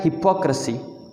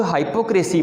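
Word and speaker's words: hypocrisy: अगला जो वर्ड है सेवंथ, वो है हिपोक्रेसी। हिपोक्रेसी, इसको लोग हाइपोक्रेसी पढ़ रहे होते हैं, तो ये भी गलत है। हाइपोक्रेसी नहीं कहना, हिपोक्रेसी कहना।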